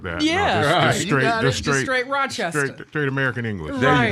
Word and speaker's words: Rochester: I said Rochester. Yeah, you're right.